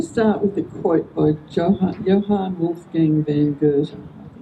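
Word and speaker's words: Johann Wolfgang von Goethe: Going to start with a quote by Johan Wolf Gang Van Gert is how you pronounce it.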